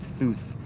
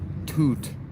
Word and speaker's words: Thoth: the O is because if you pronounce it properly, Thoth's name sounds like taught, like to teach, to be taught in English, which is a coincidence.